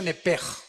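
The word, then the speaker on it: nefesh: Apúntala como suena nepesh con sh se pronuncia nepej.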